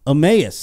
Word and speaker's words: Emmaus: Emmaus, I said it right.